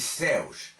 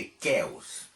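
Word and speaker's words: Ceos: Pois bem, essa é uma das formas possíveis de dizer o nome, embora o melhor seja dizê-lo pródico ou pródicos de Kéos, já que se trata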